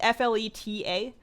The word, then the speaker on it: Fleta: It's spelled with actually one T. It's Fleta.